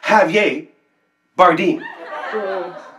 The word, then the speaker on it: Javier Bardem: javier bardem actually girth it's pronounced javier bardeen well excuse me um